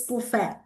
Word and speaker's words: buffet: It's not buffet, it's buffet. It's the French word.